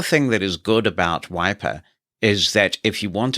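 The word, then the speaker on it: Wipr: The one that I chose is called Wiper, and it's spelt W-I-P-R.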